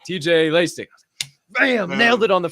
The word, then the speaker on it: Laessig: Am I pronouncing that right? Is it Laessig? Laessig? Laessig, yep, Laessig.